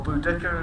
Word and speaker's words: Boudicca: We have the revolt in the AD 60s under Boudicca, or Boudica as the modern pronunciation takes it.